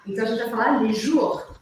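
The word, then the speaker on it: les jours: a gente vai falar lejour E aí aquele r arranhadinho e o s no final não se pronuncia e os meses a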